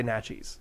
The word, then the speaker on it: Naches: right by Yakima and how you pronounce it nachis I have no idea well I'm gonna say nachos not Joe was also corrected that it's not not nachi's Valley people people just say Naches the valley is not necessary oh